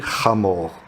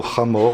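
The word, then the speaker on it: חמור: Âne, en hébreu, ça se dit chamor. Et vous avez un mot proche du mot chamor, en hébreu, c'est le mot chomer.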